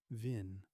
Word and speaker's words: vin: the name comes from an older Norse word vin with a short I meaning pasture or meadow.